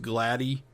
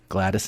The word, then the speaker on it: Gladys: That's not pronounced Gladdy. Short for Gladys. No. It's Gladys. Okay. Gladys Knight.